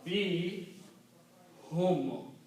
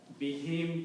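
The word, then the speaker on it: بهم: Be him comes out very smoothly. So we just for the tajweed reason, we pronounce whom as him and also write down as him.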